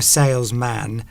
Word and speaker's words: salesman: You don't go, I'm a salesman. You say, I'm a salesman. You sort of, the man becomes mun at the end.